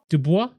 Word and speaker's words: Dubois: Dubois.